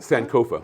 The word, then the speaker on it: Sankofa: Sankofa. Is that the That's correct Sankofa?